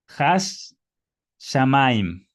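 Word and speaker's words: הַשָּׁמַיִם: Entonces, por eso la pronunciación es hash shamaim. Hash, shamaim. Ya se duplica esta consonante.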